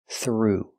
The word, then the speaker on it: threw: In the past, threw, making the long oo sound.